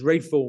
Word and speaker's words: Ralph: I pronounced it as rayful Williams were sort of looking at me as scans um you know and I have to explain it was you know it's it's a Ralph but pronounced differently um but but actually